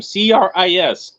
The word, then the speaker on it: Cris: you can find him cris there's no h in there because you know i